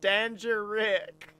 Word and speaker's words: Däängerick: I'm gonna say a syllable, and then you just follow it up with a random ending syllable. Dan. Sure. And you'd think you should follow it up with Dan, but no, it's Rick.